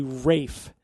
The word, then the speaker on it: Ralph: But it's pronounced in the old English way, Rafe.